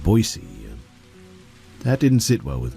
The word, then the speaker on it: Boise: He called it Boise and not Boise.